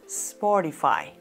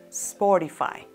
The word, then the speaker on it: Spotify: con s en inglés porque en español sencillamente no tenemos palabras que inician con sp por lo tanto la correcta pronunciación es spotify spotify en este caso en